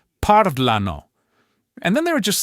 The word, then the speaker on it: parlano: So, after our golden rule, the next most common pattern you'll find is the stress falling on the third to last syllable.